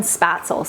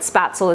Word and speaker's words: Spätzle: I just did some research about, I don't know if I'm pronouncing it exactly right, but Spätzle is the way that I think I'm supposed to pronounce it.